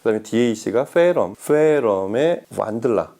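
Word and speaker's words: Wandla: 음의 시작부터 보면 브리카스트 M5, 그 다음에 DAC가 페럼의 완들라, 독일어에서 이 원더러에서 온 발음인데 완들라라고 그렇게 이름을 붙였고, 그 다음에 전용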